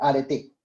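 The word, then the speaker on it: areté: Se escribe arete, pero tilde en la E, arete.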